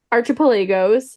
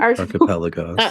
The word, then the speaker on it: archipelago: Archipelago. Like Archon.